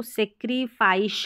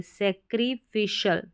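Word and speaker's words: sacrificial: में यहां पे है यह सैक्री इसको सैक्रिफाइस नहीं पढ़ेंगे सैक्रिफिशियल सैक्रिफिशियल सैक्रिफिशियल चलिए इन स्पेलिंग्स की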